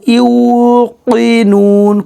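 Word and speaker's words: يوقنون: ইউ পেশের বাম আছেন ইউকিনুন, কব জিব্বার গোড়া থেকে মোটাভাবে উচ্চারণ হবে, এজন্য বলবেন ইউকিনুন এইভাবে।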